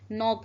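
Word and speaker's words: knock: नॉक. नॉक पढ़ेंगे हम. यहाँ पे भी के हमारा क्या है? साइलेंट है.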